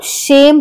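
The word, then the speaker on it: shame: जैसे एस एच ए एम ई शेम, तो यहाँ पे ए जो है वो ई के पहले आया तो इसको हम शेम पढ़ेंगे, क्योंकि यहाँ पे ई लास्ट में आया है, ए के बाद आया तो ई का अपना कोई उच्चारण नहीं है, ये साइलेंट हो जाएगा तो ये हो जाएगा शेम।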